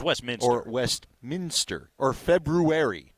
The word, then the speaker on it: Westminster: who's kind of like you driving the show pronouncing everything correctly yep cray nope not exactly crayon cray cray crayon cray it's like Westminister it's Westminster or Westminster or February not February Arvada or